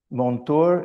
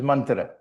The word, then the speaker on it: mantra: two words in it monto and tormmon there's monto this is mantra mantra in a colloial way it can be pronounced that monour and tormon so I've